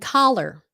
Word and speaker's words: collar: You got to open your mouth.